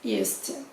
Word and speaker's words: used to: El used to, la pronunciación se junta, entonces la D como que desaparece.